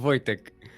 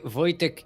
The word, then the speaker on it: Wojtek: voyager and it's pronounced wojtek j in polish is y of wait how do